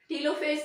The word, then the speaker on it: telophase: अब जो फेज start होगा, karyokinesis is further divided into प्रोफेज, मेटाफेज, anaphase, टीलोफेज। टीलोफेज की प्रोनाउंसिएशन टेलोफेज भी है, जैसे आपको इजी लगे आप वैसे इसको बोल लें जी।